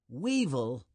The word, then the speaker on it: weevil: with its legs basket Weevil Weevil rhymes with evil and that's what many people think it is weevils are beetles that